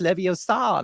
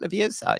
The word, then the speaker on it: Leviosa: correcting homeboy about saying, "No, it's Leviosa, not Leviosa."